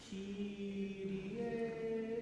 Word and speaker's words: Kyrie: So, ki, ri, not re, right? See if we can eliminate the American R. Kyrie ele.